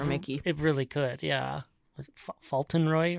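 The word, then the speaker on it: Fauntleroy: it really could yeah Falon Roy right font Roy oh yeah that's how you say it so yeah so it's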